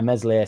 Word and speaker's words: Meslier: But if Darlow thinks he's playing second fiddle, and Farker stuck by Meslier Silent S for a long time, didn't he?